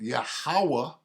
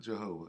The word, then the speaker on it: Yahawah: a man of battle yahawah that's how you say it not Jehovah yahawah is a man